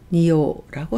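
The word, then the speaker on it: 仁王: 인왕, 금강신, 불교에서 얘기하는 금강신을 나타낼 때는 니라고 읽어서 니오라고 합니다.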